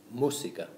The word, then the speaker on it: música: So the actual correct pronunciation of this word is Música. Musica. You can hear that we stress the U where the accent is.